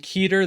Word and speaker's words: Keter: Today we have the Keter battle theme, and for those who are saying Keter, that's not how you say it linguistically, so you're wrong and I am correct.